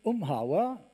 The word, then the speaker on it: Umhauer: C'est pourquoi je vais demander à Dominique Mahé pour la Maïf, Patrick Umhauer, je prononce à l'allemande son nom, pour la Kasden, et Roland Bertillier pour la MGN de venir me rejoindre.